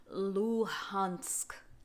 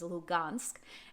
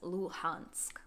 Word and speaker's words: Luhansk: ukrainian city for example luhansk luhansk you'll hear the russian speakers pronounce this as lugansk and then the ukrainian speakers will pronounce this as luhansk another example is the